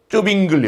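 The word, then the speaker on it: Zwingli: 이 쯔빙글리 혹은 쯔잉글리라고 발음되는 이 인물도 이 종교개혁의 큰 한 편을 차지하고 있는 그런 놀라운 개혁자입니다.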